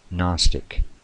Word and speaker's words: gnostic: fact it is pronounced Gnostic or a gnostic with the G being silent it means nosis knowing